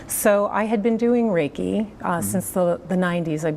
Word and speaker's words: Reiki: go global edge what exactly is Reiki or Reiki you said it right Reiki Reiki what exactly